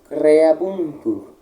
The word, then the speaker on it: creabuntur: Emite spiritum tuum et creabuntur. Como eu falei, puxar um pouquinho o R. Creabuntur. Outro ponto importante. Nós encontramos aqui dois U's. Ambos devem ser pronunciados.